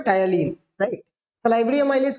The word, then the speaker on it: ptyalin: टायलीन, टी is silent, right? टायलीन, PTYALIN, टायलीन। ये क्या है?